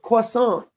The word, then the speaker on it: croissant: sipping a double espresso with a croissant, which is how you say that word, croissant, or a green tea with a granola bar.